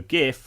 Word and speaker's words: GIF: seconds five four three two one okay so gif and i'm a hard g person stands for